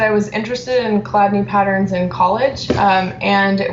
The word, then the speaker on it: Chladni: and you'll have to help me with the pronunciation of this, it looks like it's like Chladni singing. Oh yeah, Chladni singing.